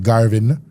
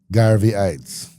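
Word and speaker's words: Garveyites: Say it right. Don't Garvin. Garveyes.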